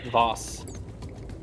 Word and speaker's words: Vaus: It's probably not actually pronounced Vals. Give me 5 seconds. Will it tell me if it's a Vals? How's it spelled? VAUS, I think. Voss.